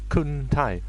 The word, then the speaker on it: Kuntai: Kuntai. It's meant to be Kunti, it is, but it's spelt in like an Asian way, so it's Kuntai.